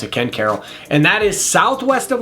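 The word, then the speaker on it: Ken Caryl: And then the last one I got to talk about is Ken Carroll. Yes, that's how we pronounce it, not Ken Carl. We pronounce it Ken Carol.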